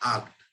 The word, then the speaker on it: acht: 8th की हमारी जो स्पेलिंग है वो है ACHT, और इसको प्रोनाउंस करते हैं आक्ट।